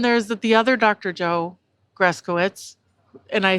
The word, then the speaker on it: Gryskiewicz: Joe Gryskiewicz, and I actually do know how to say his name, but most people don't.